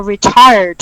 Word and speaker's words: retired: I am now retired. I forget the D, right? Retired. Retired. It's with the D at the end.